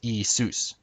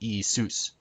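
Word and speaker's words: Ιησούς: In modern Greek, which obviously is how they pronounce it nowadays, Jesus would be pronounced Isus, with the accent on sus. Not Isus, but Isus.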